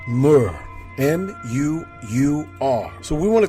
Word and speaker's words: Mu: Our ancestors teach us that the Mu, M-U, M-U-U, is pronounced Mu, and some even bring